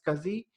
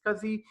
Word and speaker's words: SCSI: because he drive SCSI it is pronounced as Kazi SCSI pronounced as Kazi and then SAS drives as SAS drives are